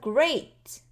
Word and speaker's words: great: 여기 보시면은 great 원래는 어이 소리잖아요. 그런데 그 단어가 그 소리가 다음으로 끝날 때는요. 살살해져요. 그래서 great great 하지만 여기에서는요이 소리가 안 나와요.